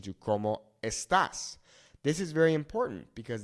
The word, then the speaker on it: estás: You can see here in this example, ¿Cómo estás? We have the accent here on this A, okay?